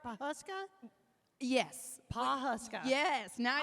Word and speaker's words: Pawhuska: Pawhuska?